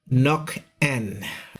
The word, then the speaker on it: Nokaen: This is and we're back bringing you the very latest update on Tropical Storm Ada with international name Nokaen. That's how it is pronounced.